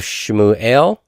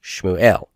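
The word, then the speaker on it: שְׁמוּאֵל: Accent that final syllable. Shmuel.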